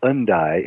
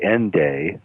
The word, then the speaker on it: Hendaye: Town actually and uh it uh it's actually pronounced uh undi in French and if you were British it would be endday like end day endday and uh this little